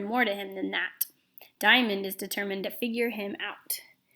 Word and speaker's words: Dyamonde: Daniel and you see her name is diamond but it's spelled kind of funny but it is pronounced diamond alright so the first